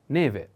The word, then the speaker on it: neve: announce the first is neve put attention on the accent e the first e neve is a female noun